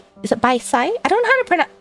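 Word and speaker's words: 白菜: is like is it bai sai? I don't know how to pronounce... How do I pronounce the C? Bai chai? Is it pronounced chai? Because I know written wise it's C-A-I. Bai chai.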